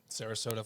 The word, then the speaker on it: Sarasota: there's one in uh Sarasota Florida I think I'm pronouncing that right um Sarasota Florida you said it perfectly yeah uh his name's